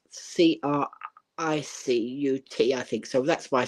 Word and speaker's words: Cricut: saying it is pronounced Cricket just like I said it so cricet as as the game of cricket but it's actually spelled c r i c u t I think so that's